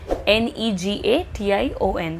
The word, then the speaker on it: Negation: Negation. The spelling is same in English as well as in German, but the pronunciation is a bit different.